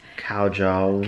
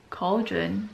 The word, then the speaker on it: cauldron: telling our new friend Jenny about how I mispronounce words. Cowjong. Cowjong is one of the stories. Luberjack. So cowjong, it's actually cow. Luberman. No. Cowjong. Luberman. Cowjong's actually cauldron, but I miss.